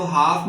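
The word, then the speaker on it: half: ए के बाद आया तो हाफ में ये आपका एल भी साइलेंट है।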